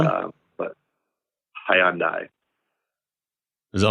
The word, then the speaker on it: Hyundai: How do you say it? Hyundai. Hyundai. I say everybody here says Hyundai. Hyundai, like aluminium versus aluminum.